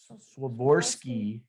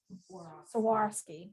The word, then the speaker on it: Swarovski: for this holiday season this is the crystal swaborsky crystals i don't think they say it right